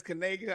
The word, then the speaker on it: Kanega: Please make sure you pronounce that as Kanega.